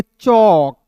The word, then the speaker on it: chalk: LK आएगा ना तो A का उच्चारण दोस्तों औ के रूप में हो जाएगा और L साइलेंट हो जाएगा।